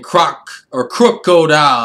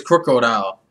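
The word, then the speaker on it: Krookodile: I think it's like Crook, like instead of like Croc. Like, yeah, it's like Croc, like you're a croc, you're a fake, you're a thief. Crocodile, I think it's Crocodile.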